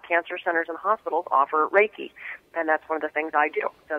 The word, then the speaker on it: Reiki: What was it, Reiki? Is that how you say it? Reiki, yeah.